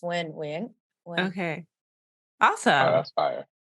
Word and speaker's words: Nguyen: Yeah, it's not Nugent, it's not Nguyen, it's not Nguyen. I mean, if we were to really pronounce it in the Vietnamese, it would be Wing. And so it's Wing.